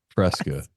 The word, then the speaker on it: Fresca: F-R-E-S-C-A.